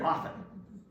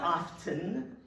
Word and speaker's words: often: what's an oftener it's somebody who pronounces the letter T in the word often it's not often it's often you're not in England